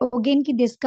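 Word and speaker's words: お元気ですか: ஆனால் அதை ப்ரொனவுன்ஸ் பண்ண நேரம் இஸ் ப்ரொனவுன்ஸ் பண்ண வேணும். ஆகவே ஒகேன்கி டெஸ்கா அப்படின்னா ஹவ் ஆர் யூ அப்படின்னு வரக்கூடியதாக காணப்படும்.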